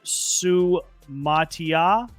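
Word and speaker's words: Suamataia: They're going to take Kingsley Sumatia. If I'm pronouncing that right.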